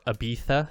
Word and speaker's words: Ibiza: the east coast of ibiza or ibiza if you uh are using the spanish catalan pronunciation of that sound well played josh yeah